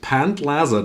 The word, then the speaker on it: Pantlaza: So, all the ones that we see are the ones that we can actually put into the pant pant laza deck. That's how he's pronounced.